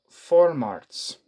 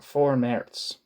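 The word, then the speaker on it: Vormärz: 19 excuse me 1848 the so-called formats I.E pre-march or four merits that's probably how it's actually pronounced in 1835 the authorities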